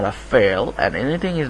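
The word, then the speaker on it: فعل: fail so that's actually it's pronounced like this fail okay so Isam fail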